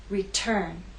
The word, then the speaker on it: return: Return has two syllables, but it's the second syllable that is stressed. T is at the start of that syllable, so we say return.